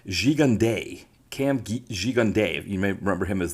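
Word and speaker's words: Gigandet: Cam I found out his last name is pronounced xiande cam G jund you may remember him as the the baddy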